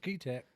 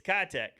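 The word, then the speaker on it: Keitech: It's Kitech, Okay. and so I got corrected too. So don't feel bad because I always called it Keytech as well. So anyways, we got Kitech in too.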